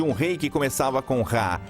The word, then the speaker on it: Ra: sabia que em copita o nome do sol em egípcio antigo se pronunciava rá no final havia uma